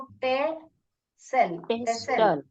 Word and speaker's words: pestle: पेस्टल पेसल और motor T को नहीं साउंड करने का कैसे पढ़ने का इसको पे सेल ट नहीं पढ़ने का पेसल टी साइलेंट है वहां पे इसको हिंदी